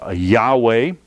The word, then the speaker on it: Yahweh: H the Hebrew letters yhw H you can pronounce it Yahweh yhw H yaha waha yah Hawaii or you